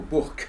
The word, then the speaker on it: bourg: Oui, et j'allais tous les vendredis acheter la viande au bourg, comme on disait. Hein, c'est la prononciation locale de bourg.